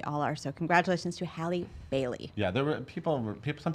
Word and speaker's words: Halle Bailey: They call rhymes with Halle Berry, but it's Halle Bailey.